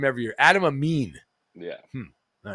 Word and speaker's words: Adam Amin: team guest gun and this game on fox adam eamon am i getting that right out of the